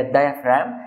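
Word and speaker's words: diaphragm: فالديافرام فيها حرف الجي مش بيتنطق، هي الديافرام.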